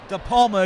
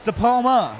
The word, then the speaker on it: DePalma: DePalma, excuse me. I either say DePalmer or DePalm, but it's DePalma.